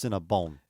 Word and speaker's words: Cinnabon: Boy, this is if you're talking about the proper name, the store, it's Cinnabon. Yes, this is 8 Crazy Nights all over again. I mispronounced it a year ago on that one too.